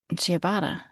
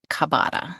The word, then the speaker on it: ciabatta: Do you remember how to pronounce the word? Ciabatta. Ciabatta. Ciabatta. Yeah. Oh yeah, ciabatta. Ciabatta. I was trying to go over. But her friends were trying to tell her that it's Kabata.